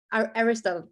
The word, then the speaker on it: Aristotle: but in the Poetics of Aristotle, he says Aristotle, that's how you say it in English.